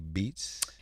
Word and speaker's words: Beetz: Beetz. It's kind of like, it's because it's German. So if you think about it, kind of like how we pronounce Beethoven, with the two E's. All right now. But I know it's a little bit of a weird sound here, so Beetz is usually fine.